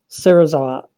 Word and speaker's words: Serizawa: they kill themselves sometimes fully pronounced his name gave the correct four syllable version of it Serizawa as opposed to the